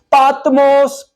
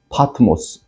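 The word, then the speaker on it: Πάτμος: 약 먹고 자니까 한참 잠결에 빠뜨모스 빠뜨모스 그러다고. 어 빠뜨모스. 예 굉장히 현대이 마단 그릭은 발음이 강해요. 그래서 성경 우리는 학교 때다 파트모 파트모스 그렇게 배웠는데 파트모스 그러다.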